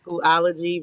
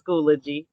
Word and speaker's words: Schoology: So some people can pronounce it Schoology, but it's new for all of us. It's Schoology.